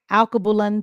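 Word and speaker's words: Alkebulan: Uh, Alabulang. Alabulan. Am I saying it right? You're like, I don't know what that is. Alab, it's in Africa. A L K E B U L A N. Alcabulan Tours.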